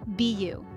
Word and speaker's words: bayou: and we can't forget Bayou pronounced be you this term refers to